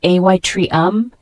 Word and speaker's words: atrium: Parts the word Atrium a t r IU M it's a noun pronounced ay Tre um it means an upper